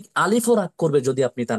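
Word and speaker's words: ألف: শুরু থেকে জোরে সরে ধাক্কা দিয়ে দ্রুততার সহিত আলিফ অক্ষরটি উচ্চারণ করতে হয় আমি আরেকবার বলছি কণ্ঠনালীর শুরু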